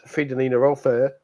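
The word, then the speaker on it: Fridolina Rolfö: who may be missing is Fredelina Rolair, which apparently is how it's pronounced.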